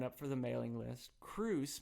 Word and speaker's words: Kroos: for the mailing list cruz my last name is i i guess you have it here on the podcast but yes it's spelled just like kangaroos without the anger k-r-o-o-s um check out the